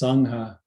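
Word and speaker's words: saññā: So perception in Pali is sangha, S-A-N-N-A, pronounced sangha.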